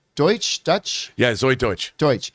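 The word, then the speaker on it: Deutch: how do you say her last name deutsch dutch yeah zoe deutsch deutsch like she's howard deutsche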